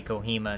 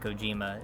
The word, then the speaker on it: Kojima: You'll have to forgive us if I say Kohima instead of Kojima. It's kind of a meme between us that we say his name wrong.